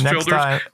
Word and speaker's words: Childers: It's spelled Childers, but it's Childers.